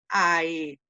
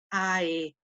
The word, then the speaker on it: aetatis: Entonces ahí pronuncio o ahí divido aetatis. Debo de pronunciar cada vocal de los diptongos. Entonces, nuevamente ahí pronuncio aetatis.